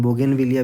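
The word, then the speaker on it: Bougainvillea: बोगेनविलिया भी हम लोग कहते हैं, इसको ऐसे प्रोनाउंस करते हैं।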